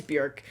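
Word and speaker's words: Björk: I looked it up it's not Bjork like I always want to say it it is Burke so this is a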